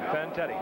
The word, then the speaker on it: Fantetti: Fantetti.